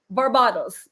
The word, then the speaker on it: Barbados: Just because I have a lot of respect for the country of Barbados, I will pronounce it correctly. Barbados.